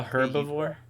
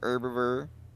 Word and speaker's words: herbivore: herbivore an omnivore a herbivore yeah the h is silent an herbivore yeah but look man